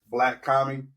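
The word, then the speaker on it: Blac Kami: His name is Black Kami. Yeah, and it's spelled BLAC and then Kami KAMI.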